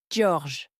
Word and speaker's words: George: a dit qu'il s'appelait George McIntosh. « Oui, a dit le nouveau. George. » La maîtresse nous a expliqué qu'il s'appelait George, mais que dans sa langue, ça se prononçait George.